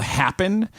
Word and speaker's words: Happn: Yeah, and then there's one I just found out about called Happen, which is spelled HAPPN, and it's literally just